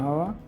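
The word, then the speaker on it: who: Shine means উজ্জ্বল হওয়া।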